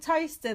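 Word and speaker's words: Towcester: There's a place called Toaster that's spelt like Towester.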